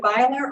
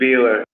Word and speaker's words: Beeler: we pronouncing your name is it Viola or Beeler but it's Mr Beeler man okay Mr Beeler